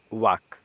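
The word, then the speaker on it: walk: रहे हैं क्या है वाल्क नहीं है ठीक है ना इसको वाल्क नहीं पढ़ा जाएगा तब क्या पढ़ा जाएगा तो इसको इसमें एल जो है साइलेंट होता है क्या होता है एल साइलेंट होता है इसमें एल नहीं पढ़ा जाएगा तो इसको क्या पढ़ेंगे देखिए इसको पढ़ेंगे वक क्या पढ़ेंगे बच्चों इसको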